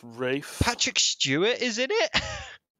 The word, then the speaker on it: Ralph: Actually, it's pronounced Rafe.